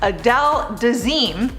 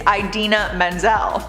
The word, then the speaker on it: Idina Menzel: explanation he had but he mispronounced her name and said something completely different he announced her as adele dazeem her name is idina menzel he did apologize to